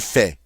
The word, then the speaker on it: fait: fais, tu fais, il fait, elle fait. Did you notice that all of those are pronounced exactly the same?